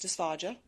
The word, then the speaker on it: dysphagia: There's also dysphagia, which is, or you might hear it pronounced dysphagia, but difficulty swallowing, dysphagia.